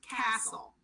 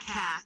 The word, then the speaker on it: Cassell: Alright, Scott Castle. Scott Castle. Yeah, and it's spelled Cassell. Sorry. Oh, Cassell or something like that? Yeah. So, Not Cass. Not Cass. It's Castle, I was going to say.